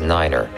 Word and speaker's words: niner: at a time and pronounce the number nine as Niner for example to refer to Runway 29 say Runway 2 Niner all vehicles and aircraft